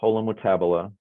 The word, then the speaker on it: holometabola: Eric, is that hola or holo? It's holo, right? Holo, yes.